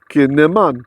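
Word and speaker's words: קִנָּמוֹן: If you're just listening, it's spelled kuf or kof, however you like to call that letter. Noon with a dagesh, so there's 2 of them. That's why it's kin ne.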